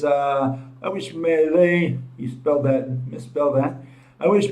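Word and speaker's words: Milei: That's direct, except that Millet, his last name is with I, whereas my law, Millet, goes with a Y. Okay, that's the only difference. But the pronunciation is the same.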